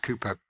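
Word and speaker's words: Cowper: wrote it's written CER it's pronounced Cooper there is a fountain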